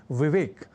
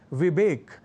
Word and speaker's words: विवेक: जैसे कहना और लिखना हो विवेक, तो लोग कह जाया करते हैं विवेक या विवेक।